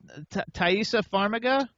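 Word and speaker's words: Taissa Farmiga: pronounce all the names but how do you pronounce taisa faraga ta yeah that was good okay everybody you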